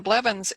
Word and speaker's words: Blevins: And if someone's wondering how to pronounce my name, people say, "Oh, thank heavens for Blevins," even though it's not spelled that way. But it's a good way to remember my name.